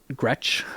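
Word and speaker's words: Gretsch: of my collection hey Gretch I think is how it's pronounced Gretch uh resonator it's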